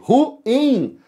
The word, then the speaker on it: ruim: Nós temos um hiato aqui, ruim, como lua, como faísca.